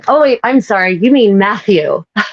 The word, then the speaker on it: Matthew: I heard Machu. Oh, yeah. I heard Machu because you can't because because you're Irish and you suck at pronouncing the thorn.